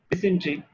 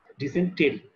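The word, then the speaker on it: dysentery: ডিসেন্ট্রি, আপনার কয়জন ডিসেন্ট্রি বানানটা একটু দেখে নিন, ডিসেন্ট্রি বানানটা কিরকম। ডিসেন্টেরি উচ্চারণটা ডিসেন্ট্রি।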